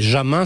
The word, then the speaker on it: Jamin: Mais Jamin, ça s'écrit avec un J comme joie. Oui, ou jouissance. Ou jouissance. C'est pas plus mal finalement. Hein. Sinon, ça ferait gamin si c'était un G.